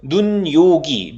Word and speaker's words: 눈요기: 이요조 dou 입니다 2 이게 뒤로 넘어가서 이렇게 발음하지 않는 다구요 눈요기 눈요기 이렇게 눈요기 이렇게 발음하지 않는 다는거 꼭 보세요 뒤에가 비어있다고 해서 엄마네 받침이 그냥 넘어가는 이고 우리가 이걸 여는 이라고 하는데요 이거 연음 자는 게 아닙니다 여름 되는게 아니라 니 음이 첨가되는 거에요 그리고 왜 이리 첨가되는